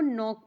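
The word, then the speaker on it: knock: मतलब हो गया गूंगा के एन ओ सी के को नॉक पढ़ते हैं देखिए यहां पे के साइलेंट है के साइलेंट है नॉक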